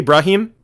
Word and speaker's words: Brahim: Am I pronouncing that correctly? Brahim? Yes, that's correct.